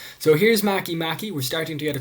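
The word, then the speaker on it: Makemake: It looks like it should be pronounced make, but due to the language that it comes from, it is pronounced Maki. So here's Maki.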